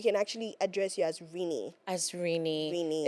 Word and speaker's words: Rinny: But you said we can actually address you as Rini.